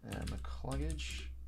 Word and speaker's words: McCluggage: McCluggage.